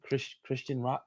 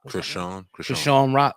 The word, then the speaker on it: Chrisean Rock: Chrisean Rock. Chrisean Rock.